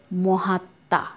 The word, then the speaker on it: মহাত্মা: তারপর আছে রশ্মি এবং সবশেষ রয়েছে এখানে মহাত্মা। এখানে আমরা দেখো শেষে রয়েছে তয়ের সাথে ম, এই কারণে ময়ের উচ্চারণ পাচ্ছি না এবং যেহেতু ময়ের উচ্চারণ পাচ্ছি না একটু নাসিক্য হয়েছে, সে কারণে আমরা চন্দ্রবিন্দু ব্যবহার করেছি।